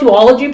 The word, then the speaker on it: duology: yeah do a login i call it duology but don't you don't have to follow my lead yeah well a song g is just ridiculous it's obviously supposed to be a hard g um i studied english